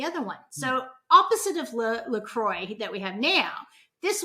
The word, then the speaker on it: La Croix: Because one of the ones we sell, which is very, very popular, and it's pronounced La Croix, is so popular, and it has been, this is probably the 3rd or 4th go at making seltzer with essence.